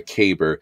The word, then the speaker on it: caber: not pronouncing right, a caber. So like, it sounds like saber, but it's a caber.